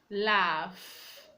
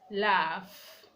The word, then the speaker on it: laughs: at the end of some words for example laughs laughs so the G edge is making the sound